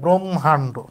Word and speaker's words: ব্রহ্মাণ্ড: উচ্চারণ ভেঙে লেখার সময় যেহেতু হ এবং ম এর মধ্যে আমরা মটা আগে পড়ি, এই জন্য মটা আগে লিখব। এই কারণে এখানে মটা আগে হয়েছে, ব্রহ্মাণ্ড।